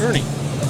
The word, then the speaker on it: Erni: Ernie Ernie that's e r n i yes Ernie how come I couldn't get I could put that together to save my life they're with Ernie which is a great name I like it